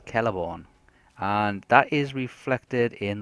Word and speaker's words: Celeborn: It's like Celeborn, not Celeborn. It's Celeborn.